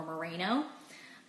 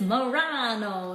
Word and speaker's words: Marano: names all the time one of my biggest pet peeves is when people pronounce my name or Reno um totally again how you can do it don't feel bad if you have but it's Murano it's a Dahle and